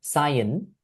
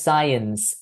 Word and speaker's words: science: And you're clearly capable of pronouncing ending sounds, but here you said cyan. It should have been sci. Senses. No, it's just science.